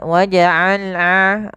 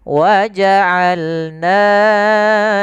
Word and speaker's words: وَجَعَلْنَا: Kemudian وَجَعَلْنَا نَوْمَكُمْ سُبَاتًا وَجَعَلْنَا Ain, hati-hati dalam pelafalan ain, jangan waja'alna, jangan hamzah. Atau jangan waja'alna masuk ke rongga hidung, tapi dia Bagaimana? Dari tengah tenggorokan kita lafalkan ain.